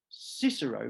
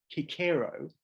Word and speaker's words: Cicero: lawyer philosopher and Statesman Cicero Marcus Marcus tullius kikero it was the way he would have pronounced his own name we call him Cicero according to Cicero all